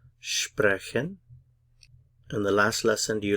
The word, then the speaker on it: sprechen: Stress on the first syllable, sprechen.